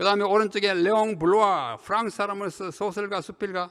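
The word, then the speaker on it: Bloy: 그 다음 두 번째는 레옹 블루아, 영어로는 블로이지만 이게 블란 사람이니까 블루아 이렇게 읽어야 맞습니다.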